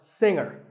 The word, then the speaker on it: singer: Now, we say finger, we say the G. Younger, again with the G, but singer, no G.